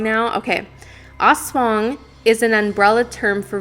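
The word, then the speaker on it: aswang: know like it was it's called the oswang but i said ass wang and you did not i did i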